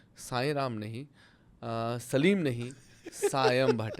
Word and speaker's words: सायम: देख रहे हैं प्रोग्राम मेरा नाम सायम भट्ट है। सायम श्याम नहीं साईं राम नहीं सलीम नहीं सायम भट्ट है।